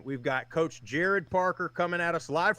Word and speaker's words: Gerad: head coach of Troy Jared by the way is the correct pronunciation we've got coach Jared Parker coming out of